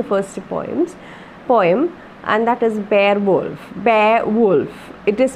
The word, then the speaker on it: Beowulf: have been the first poem, and that is Beowulf. Beowulf. It is pronounced Beowulf. Okay, Beowulf, but the pronunciation is Beowulf.